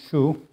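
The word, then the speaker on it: 厨: It's pronounced chu.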